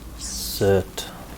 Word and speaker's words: Surt: Cert. That's how you pronounce it.